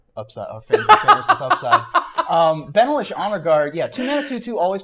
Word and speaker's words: Benalish: You said Benalish. Sure. I'm Benalish. So how do you pronounce it? Well, it's fine because y'all are wrong. But Hey, y'all. it's Banalish.